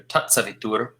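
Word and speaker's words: सवितुर्: Sorry, that's a short U, not a long U. Savitur Varēnyam.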